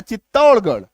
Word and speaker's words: चित्तौड़गढ़: जितना गढ़ है ना, चित्तौड़गढ़, छत्तीसगढ़, तो ये गढ़ का जो स्पेलिंग है, गढ़ का जो उच्चारण है, इसी में, सिर्फ और सिर्फ इसी में आपका ढ होगा आर का उच्चारण।